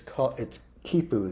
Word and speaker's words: quipu: It's quipu. There's a couple ways to spell it.